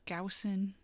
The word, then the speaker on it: Gaussian: All right, it's Gaussian.